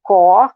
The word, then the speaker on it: corps: Eu não pronuncio aquele P nem aquele S. Porque corps, como é que se escreve? C-O-R-P-S. É corpo, né? E eu vou dizer o quê? Le corps. Eu digo só corps. Não pronuncio, deixa eu ver, duas letras eu não pronuncio.